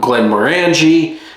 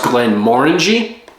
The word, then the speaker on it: Glenmorangie: When I first started seeing, I called it Glenmorangie, but it is pronounced Glenmorangie.